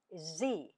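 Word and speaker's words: Sie: The formal form for u singular and plural is z written with a capital s i e that is the formal form of you for singular and plural.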